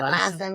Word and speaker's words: Lassen: How do I pronounce that? Lassen.